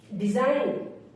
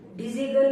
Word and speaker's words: design: एन से पहले अगर जी आए तो हमेशा साइलेंट रहता है। जैसे डिजाइन, DESIGN, डिजाइन, डिजिगन नहीं पढ़ेंगे, इसको पढ़ेंगे डिजाइन, DESIGN, डिजाइन।